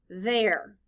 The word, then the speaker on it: there: The letters T-H stand for the th sound. In this word, the letters E-R-E stand for the sound air.